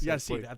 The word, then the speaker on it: Yasiel: Yasiel. Yasiel.